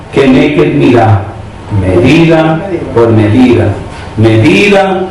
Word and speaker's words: Keneged: Si quieres anotar, Midá Keneged Midá en hebreo, M-I-D-A, Midá, lleva tilde en A. Keneged, K-E-N-E-G-U-E-D, K-E-N-E-G-U-E-D, tilde en la segunda E, Keneged, Midá, Midá, Keneged, Midá, medida por medida.